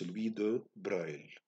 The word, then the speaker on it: Louis de Broglie: Jusqu'à l'arrivée de Louis de Broglie, qu'on écrit Broglie, c'est un français, mais qu'on prononce Louis de Broglie.